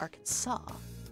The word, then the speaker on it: Arkansas: explain because it's English why is it spelled Arkansas if it's pronounced Arkansas I got the purple